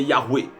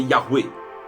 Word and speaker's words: Yahweh: de la prononciation, Donc, le nom, la prononciation la plus proche du nom de Dieu, c'est Yahweh. C'est Yahweh.